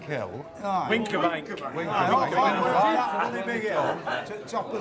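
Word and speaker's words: Wincobank: We went to the top of, how do you pronounce it? Winskabank Hill? Winkerbank.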